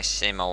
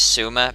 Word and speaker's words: Sima: an arrow shot by Sima Wang. By the way, they've changed the pronunciation in this game as well a lot, so Sima is not Sima, it's Suma, but I'm still going